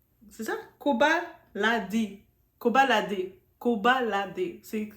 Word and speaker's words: Koba LaD: C'est Koba Ladi. C'est ça? Koba Ladi. Koba Ladi. Koba Ladi. C'est comme ça qu'on prononce. On prononce le D, ok?